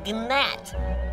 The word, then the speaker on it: gnat: me you are a gnat there's a g silent it's matt are you calling me